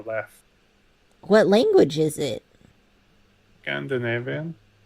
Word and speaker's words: Leif: same Leif, L-E-I-F, and I always pronounced it Leaf, but like, who knows? Yeah, I mean, I think that's more of a English, Anglic pronunciation, because, like, if you think of Leif Erikson, right, that's how we say it. But I think the actual correct pronunciation is more Leif or Left.